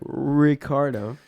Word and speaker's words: Ricciardo: pronunciation on your part ricardo ricardo if you're gonna say in spanish you gotta roll yours ricardo yeah you don't say ricardo no rollyard you're gonna say it right ricardo yeah say it right